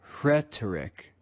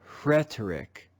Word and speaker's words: rhetoric: about it is that the aspirated sound comes before the simple consonant sound of the letter r let's read this word together rhetoric rhetoric rhetoric most english-speaking people